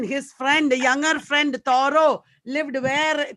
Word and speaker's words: Thoreau: It should be pronounced Thoreau. Americans say Thoreau.